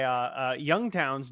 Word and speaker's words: Yungtown: So anyway, Youngtown's new album, and that's spelled Yungtown. So not exactly young, but you know.